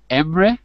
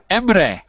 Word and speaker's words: Emre: is let's hello to emra is that right emra emra how do you say your name how are you Hi how do you see your name em emre yes from Turkey yes you